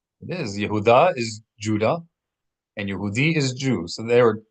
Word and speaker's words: Yehudi: Accent on that last syllable, Yehudi.